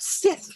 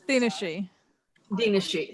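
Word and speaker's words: Daoine Sidhe: I've been pronouncing that Sith forever. Oh yeah, she. Daoine Sith is what's the real pronunciation? Dinashi.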